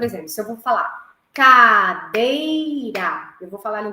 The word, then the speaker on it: cadeira: Qual que é a sílaba mais forte? A segunda. Como que eu faço para descobrir? Como se eu estivesse chamando a palavra. Cadeira. Onde eu demorei um pouco mais, no meio. Então, o dei seria a acentuação mais forte, no caso, né? Seria a sílaba tônica, digamos assim.